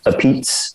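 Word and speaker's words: apizza: a new haven slash connecticut thing and it's pronounced appeats so modern repeats we also used to go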